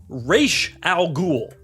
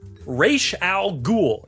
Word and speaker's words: Ra's al Ghul: Ra's al Ghul. Ra's al Ghul. It is not Ra's, Christopher Nolan. Oh, does he say that? In the movies, they say Ra's al Ghul.